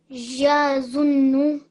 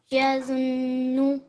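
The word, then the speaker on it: يَظُنُّ: Yazunnu. Good. Remember, you need to keep a 2 second on the zun because it's a noon mushaddad, which means it's a noon gunna. Once more. Yazunnu.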